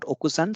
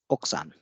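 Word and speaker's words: 奥さん: what does that mean this is not okusan so in the last chapter we have seen the devising of vowels so this is oksan it's not okusan because here we have and so it's oksan and tanakasan's wife is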